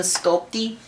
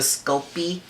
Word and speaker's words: Sculpey: you work on the sculpty the sculpey some some people pronounce it with a t and uh you're not supposed to uh you gotta just